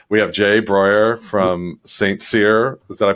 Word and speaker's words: St Cyr: this industry but we have Jay Brer from St seir is that I pronounce that correctly PS yep you got it